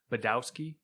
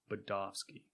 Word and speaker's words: Badowski: the w is yeah that's pronounced like a v that's what my i mean it's that sounds more polish budovsky my american nes is